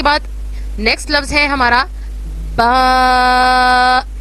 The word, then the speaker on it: ب: اس کے بعد نیکسٹ لفظ ہے ہمارا با. اس میں ہم دونوں ہونٹوں کو اچھے سے جڑائیں گے اور پھر ادا کریں گے با.